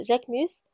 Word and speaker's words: Jacquemus: Je sais pas trop comment les autres prononcent ça, mais moi je prononce Jacquemus.